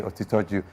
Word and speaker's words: Otitoju: Otitoju or Otitoju? Don't worry. No, I worry. Okay. Because we were trained. Otitoju. Otito means truth. Ju means supreme. So Otitoju. Truth. Otitoju means truth is supreme.